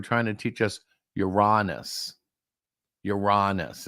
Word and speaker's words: Uranus: the 19inch TV and it would say the solar system contains Uranus everybody in the class of course because would say it right we were supposed to say youranus uhuh okay funny teacher